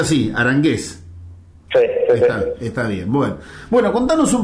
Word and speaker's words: Aranguez: se pronuncia así, Arangués.